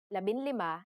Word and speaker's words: labinlima: For the letters D, L, R, S, and T, the G from NG is dropped to make it easier to pronounce. Labindalawa, labintatlo, labinlima, and labinsyam.